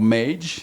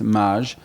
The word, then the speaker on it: Mage: uh maj uh or mage uh in america or maggie there's been omaze there's all sorts of ways to pronounce it they're all right but in in french it's maj um and i'm uh